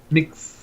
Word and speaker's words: Mx: How do you pronounce that? Mix. Yeah, mix. Or mix a lot.